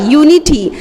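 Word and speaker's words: unity: आगे आते हैं, यूनिटी वर्ड को देखिए, यू एन आई टी वाई, यूनिटी, you sound आ रहा है जो कि कॉन्सोनेंट साउंड है, तो इसके लिए लिखा हमने जरूर यू से है, लेकिन इसका प्रोनाउंसिएशन यू पढ़ रहे हैं, तो यहाँ पर आ साउंड ए आएगा।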